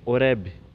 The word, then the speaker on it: Horebe: Deus, o Horebe, então o B mudo no final, a gente deve pronunciá-lo bem, Horebe, sem nenhuma vogal no final da palavra.